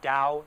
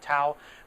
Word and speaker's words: Tao: I guess the actual correct pronunciation of it is dao, not tao, but everyone says selum tao.